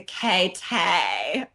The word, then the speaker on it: K-Tay: name of Katie into K-Tay. Right. And then I take this idea of the celebutante and then I'm thinking like, okay, K-Tay, like what rhymes with like Tay, like way.